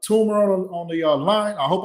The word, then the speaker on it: Toomer: No, you said it right. Toomer, Toomer. It's Toomer, not Toomer, right? Right. Toomer with two O's.